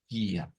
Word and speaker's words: dia: En la cantante, mejor dicho, la pronuncia como G, como una especie de G, ¿verdad? Del inglés. Gia, Gia. Aunque está la forma de decir día también, pero pues vamos a